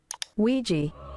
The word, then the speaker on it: Ouija: unrelated, but I've asked a data analyst expert to give us the proper pronunciation of this word. Ouija.